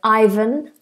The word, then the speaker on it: Ivan: would cover it today how do the Brits pronounce Russian names like Ivan and Vladimir there you go Ivan Ivan and Vladimir ok doie I'm going to